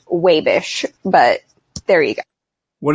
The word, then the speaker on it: Wabash: Also, it is not actually Wabash. If you're from Wabash, it's pronounced Wabish.